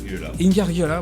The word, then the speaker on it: Ingargiola: invité naturellement Lionel Rinfra, à Éric Ingargiola, je prononce mal son nom, Ingargiola, voilà, qui nous a aidé à préparer cette émission.